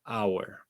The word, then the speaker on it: hour: Porque miren que esta H no suena, hour.